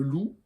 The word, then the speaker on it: loup: Autre exemple avec lupus en latin, le loup en français, une seule syllabe, lupo en italien, deux syllabes.